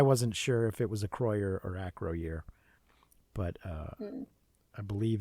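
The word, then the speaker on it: Acroyear: Is pronounced Acroyer.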